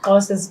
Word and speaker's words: Xhosa: I don't speak Xhosa. Oh, so okay, you're from that tribe that. Yes. Apparently, Zulus and like other tribes also do the click, but Xhosas do it more than.